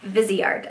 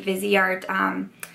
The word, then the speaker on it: Viseart: Okay, so this is from Viseart, I think is actually how you say it.